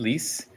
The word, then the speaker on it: Lease: so I am lease uh pronounced like lease the house and I am based